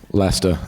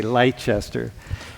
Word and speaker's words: Leicester: Leicester, yeah. Leicester. Or Leicester for Americans, yeah. Yeah, for American, dude. You want to be cool, say Leicester. Memorize that. Don't say Leicester.